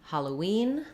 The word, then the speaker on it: Halloween: word for you again in Halloween the stress falls on the wean syllable um the first letter A says the ah sound so we have ha this letter O says the schwa sound holla and then our stress comes the last syllable we have the E vowel so I would write it kind of like this huh love ween um